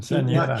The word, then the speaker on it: quinceañera: So how do you pronounce it? Not Quinceañera.